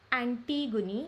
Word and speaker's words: Antigone: Which of the following analysis is not true for 5th century BC Greek play of Antigone? It is pronounced as Antigone by Sophocles.